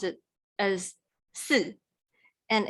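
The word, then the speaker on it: 四: it pronounced it as su and it sounds similar to death which is so we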